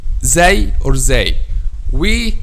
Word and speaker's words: Zāy: this is the point of articulation of letter zay or zay and how we pronounce it the tip of the tongue touch the edge of front two lower incisors as okay this